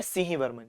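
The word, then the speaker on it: Simhavarman: तो यहां पे लिख रहे हैं हम अब सिम्हा। लेकिन उसका प्रोनाउंसिएशन क्या है? सिंह वर्मन।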